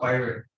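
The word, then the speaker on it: pivot: पिवट और पाइवट, और both is right.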